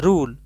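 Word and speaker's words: rule: लॉ बोलेंगे sound में रूल य लास्ट में साइलेंट बट ई लिखना पड़ेगा according two spelling are यू एल ई रूल English spelling but E will be silent June रूड fine and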